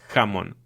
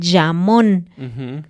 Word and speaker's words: jamón: una Y y dicen llamón. Jamás. Siempre la J es un sonido de la garganta.